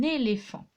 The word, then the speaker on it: éléphant: Un éléphant, et oui, le F s'écrit PH. Il y a un T qu'on n'entend pas, qui est une lettre muette.